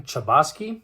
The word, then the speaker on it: Chbosky: friend uh by Stephen chubosky hopefully that's pronounced right c-h-b-o-s-k-y it's kind of tough but I'm gonna go with Stephen Chbosky uh so this book